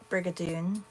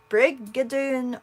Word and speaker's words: Brigadoon: Brigadoon or Brigadoon or Brigadoon or how do you what's the emphasis on only because I never use the word briger I mean it must be Dune because it has to rhyme with June because we're doing June